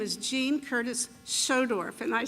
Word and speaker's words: Schodorf: a closing statement my name is Jean Curtis schodorf and I say that because it's difficult to un to pronounce but I am from Independence and I